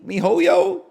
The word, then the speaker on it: miHoYo: whatever the company's called Mi Miho mihoyo you got it you got it they